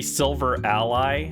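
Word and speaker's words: Silvally: Silvali. Silvali. Silvali. I don't know how it's pronounced. I know it's supposed to be silver ally, but silvali sounds better to me.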